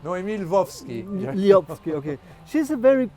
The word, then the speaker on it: Noémie Lvovsky: They don't know, Yes, okay. it's Noémie Lvovsky.